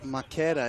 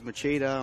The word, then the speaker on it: Makeda: Makeda is the way you say it, but everyone says Machida, Makeda, Makita.